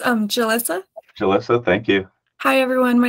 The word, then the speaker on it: Julissa: Alexa I'm sorry where do I put the syllables oh it's um Jalissa Julissa thank you hi everyone my name is Julissa